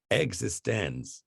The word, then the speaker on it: eXistenZ: again and again they're you're supposed to pronounce it existence and the x is